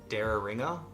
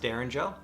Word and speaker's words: Derringer: Dara ringer it was it was really throwing me off I actually had to look up a few different videos to find out how to actually say it it's pronounced Derringer I'm not somebody let